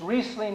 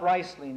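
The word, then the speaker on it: Riesling: good we like it it's reing not ring by the way and if it was ring in German it would be spelled re eii but it's spelled r i e so it's reing just like it was double e in here um well anyway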